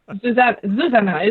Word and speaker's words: Zuzana: Zuzana is the proper way to say it, but now all the English-speaking people say differently. They put it just in the second syllable, so everyone calls me differently, and that's fine.